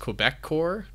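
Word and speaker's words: Québecor: So we have, I think it's pronounced Quebecor?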